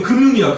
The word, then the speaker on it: 금융: 야금 시험에 제일 많이 나오는게 금융이야. 금융. 금융. 금융이라고 발음해 되고 금융 이렇게 발음해도 돼요.